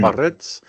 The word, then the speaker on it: Biarritz: You got to roll your R's. Mm-hmm. Biarritz.